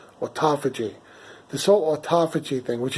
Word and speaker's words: autophagy: I always want to say autophagy. It doesn't sound right? It's autophagy.